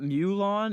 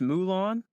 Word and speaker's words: Mulan: which I've been told it's not new lawn it's Mulan before we continue how